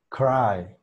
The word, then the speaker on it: cry: Llorar se pronuncia de esta manera. Vamos a pronunciar lo que sería la I inglesa, ¿no? Que va a ser E, E. Luego vamos a pronunciar lo que sería la A normal. I, I, I. Después la R, una R inglesa también, R, Rai, Rai. Y por último, la K de kilo. Cry, cry, cry.